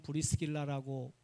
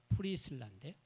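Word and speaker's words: Priscilla: 그 오월본 선교사님의 손녀, 우리는 브리스길라라고 발음을 하는데 프리실라인데 영어 원래 발음은.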